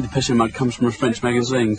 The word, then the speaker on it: Depeche Mode: Depeche Mode. And we just decided we liked the sound of that name. And we took off the accent and we just kept the pronunciation.